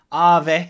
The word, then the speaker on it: Aave: gonna be calling it a v' because it's hard to jump from my English accent to the Finnish one so I'm just gonna be calling it a v' Ave it's the correct pronunciation so this is basically